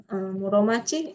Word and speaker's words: Muromachi: Muromachi, ini bacanya Muro ya. Bacanya jangan Shitsu ya. Shitsu ini dibaca Muro ya, minasang kalau belajar kanji ya.